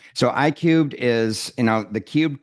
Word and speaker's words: iCubed: how it specifically applies to couples right so I cubed is you know the Cub comes from it looks like I3 a lot of people pronounce I3 but I Cub because I was a math